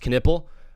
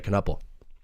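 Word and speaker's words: Knueppel: I know I know kupple is good as well and I and I know it's pronounced kipple but I just get worried about saying that word so much on live so I say kupple.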